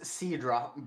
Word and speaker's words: Ceandra: again see and right it's pronounced Sidra but she's spelled c e a n d r a i am certain that